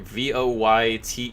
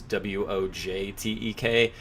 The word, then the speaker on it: Wojtek: first badass book but Wojtek the soldier bear vo why Tek you can also see it spelled sometimes as woj Tek which is Wojtek is how it's pronounced and